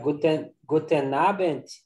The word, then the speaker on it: guten Abend: It's like guten Abend. Yeah, we. The D in the end, and they say the T.